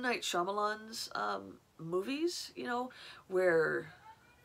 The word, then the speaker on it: Shyamalan: bit creepy but kind of like M night Shyamalan Shyamalan and I've said it wrong for so many years M night Shyamalan movies you know where it's creepy but kind